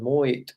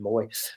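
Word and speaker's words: Moët: He's been and is a brand ambassador for Rolex watches and Moet. I think they pronounce it Moet in Chandon. I normally said Moet, but it's Moet and Chandon Champagne, both for 50 years.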